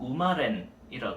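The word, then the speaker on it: 馬連: 그래서 일본식으로 읽으면 훈독 발음이 들어가서 음독이 아니라 뜻으로 읽는 우마렌이라고 해.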